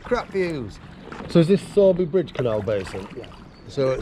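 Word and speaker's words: Sowerby: to live with crap views so is this sorby bridge Canal Basin yeah so sorry Bridge Canal Basin and for those of you who aren't aware it's actually spelled sour bee but it's pronounced sorby that looks good in the background through the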